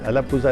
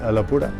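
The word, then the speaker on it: Alappuzha: मज और द अलापुरा देखिए अलापजा नहीं है उसको मलयालम में प्रोनाउंस करते हैं अलापुरा चिकन बिरयानी या ट्रेडिशनल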